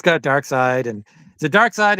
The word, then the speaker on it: Darkseid: And it's got Dark Side, and is it Dark Side or Dark Seed?